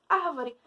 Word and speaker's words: árvore: Por exemplo, árvore. Árvore é proparoxítona, árvore é acentuada.